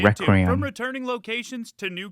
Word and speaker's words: Requiem: Capcom just dropped the first footage, okay, that's how you pronounce it, Requiem.